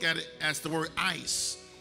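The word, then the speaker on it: εἰς: The Greeks look at it as the word ice. It's actually spelled E-I-S, but it's pronounced ice, like I-C-E, E-I-S.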